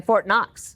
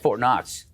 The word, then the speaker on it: Fort Knox: deep dive today on Fort Knox that I did the interesting thing about Fort Knox is that the K is silent did you know that